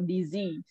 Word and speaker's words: disease: chronic architective pulmonary easy so the Z is the stress is on the second syllable so disease yep that's much better